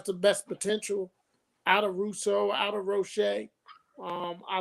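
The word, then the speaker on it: Rousseau: Man's last name and everywhere I hear it it is being called Gregory R Russo they call him Russo so we got the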